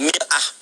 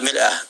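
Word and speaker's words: مرآة: Bahkan sering sekali orang Arab punya perumpamaan dengan mir'ah. Ya, kalimatnya sama, cuma cara bacanya beda. Al-mar'atu kal mir'ah, yang satu pakai fathah, yang satu pakai kasrah.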